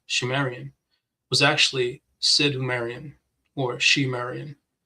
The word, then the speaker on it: Sumerian: He writes, it is also reckoned that the subsequent culture of the region, phonetically called Sumerian, pronounced Shumerian, was actually Sidhumerian or Shemerian.